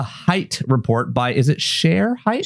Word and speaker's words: Shere: It is indeed, as you mentioned, the Hite report by, is it Shere Hite? Shere Hite. Like Shere CHER, yeah. Yeah, and it's like CHER, but she spells it SHERE.